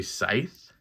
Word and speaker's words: scythe: this and I know I'm pretty sure the C is silent and it's really scythe but I'm an idiot